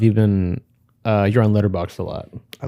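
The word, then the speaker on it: Letterboxd: Also, I just call it letter box. I dropped the D.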